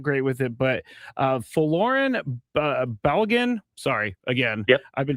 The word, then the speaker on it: Folarin Balogun: And I wanted to ask you, and I'm going to possibly mispronounce his name because I'm not great with it, but Folarin Balogun.